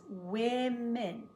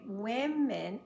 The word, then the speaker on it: women: it plural but it's not the way we pronounce it woman becomes women this woman talks with those women we say women over time we decided evidently that these two